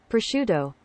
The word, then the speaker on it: prosciutto: When it's actually Prosciutto.